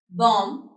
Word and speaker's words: bomb: So, the words which contain the silent letter B they can be dead, bomb, subtle, and calm.